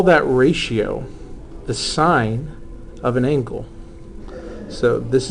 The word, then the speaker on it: sin: to anybody listening so this is still pronounced sign even though it's an abbreviation for the uh for